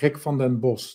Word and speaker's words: Rick van den Bos: Yeah, that name is hard, right? Rick van den Bos. That's how you pronounce it in Dutch, but just Rick is fine.